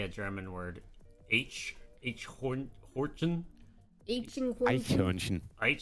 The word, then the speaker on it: Eichhörnchen: Eichhörnchen. Wait, say it again. Say it again. Eichhörnchen. Hornchen. Chin. I butchered it.